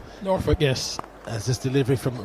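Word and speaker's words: Norwich: of his friends is from noruk did I pronounce that correctly norf yes as this delivery from Reese topple on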